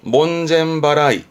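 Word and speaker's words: 門前払い: 그래서 발음이 몬젠바라이.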